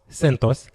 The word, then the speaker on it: CentOS: You can simply run CentOS, sometimes pronounced CentOS, which is another Linux distribution completely free based on Red Hat Enterprise Linux.